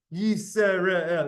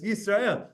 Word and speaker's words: Yisrael: Shema, but the word Yisrael, the sin has two dots, and that it's not Yisrael, it's Yisrael.